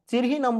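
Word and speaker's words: Scirrhinum: सिरचिनम, चिरहिनम बोल सकते हैं उसको, चिरहिनम एस साइलेंट है, इज अ रेमेडी मेड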